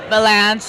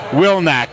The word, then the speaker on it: Vilanch: pronounce your last name banche like Avalanche banche like Avalanche do you have people pronouncing it really messed up every possible every possible explanation winac is my favorite I